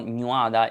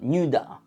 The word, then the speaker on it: Nuada: And this one is not Nuada, it's Nuda.